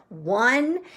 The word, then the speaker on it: one: be ah hmm and there's no way to sound it out because this is the number one and the sound that you hear at the beginning is a wah sound but it's spelled oh and E this is one that